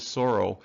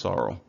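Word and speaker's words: psora: more commonly used term the other term is Soro and that's commonly seen in terms like psoriasis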